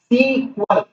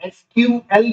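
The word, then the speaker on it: SQL: तो ऐसे डेटाबेसेस जिन पर स्ट्रक्चर्ड क्वेरी लैंग्वेज, सीक्वल, आप इसको एसक्यूएल भी प्रोनाउंस कर सकते हैं या सीक्वल, है ना, ऐसे भी बोल सकते हैं।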